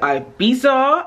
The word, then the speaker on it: Ibiza: to spain for a week i'm going to ibiza ibiza it all depends on how you pronounce it personally i only say ibiza but